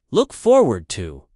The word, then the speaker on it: look forward to: The stress is on forward. Look forward to.